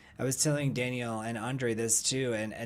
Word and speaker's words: Daniel: Mark Sands, it's Daniel, because in Spanish it's pronounced Daniel. Daniel.